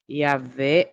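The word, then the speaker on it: Yahweh: É Jeová ou é Yahé? Observa. Jeová é uma pronúncia artificial criada por um erro de leitura medieval. Yavé é a pronúncia mais próxima do do original hebraico baseada em estudos linguísticos.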